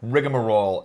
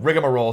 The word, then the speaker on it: rigmarole: rigmarole it's not rigmarole it's not rigmarole i saw i liked it that way no rigmarole i think i started the the the poor pronunciation of this word it's rigmarole but rigamarole sounds so much more douchey and so much more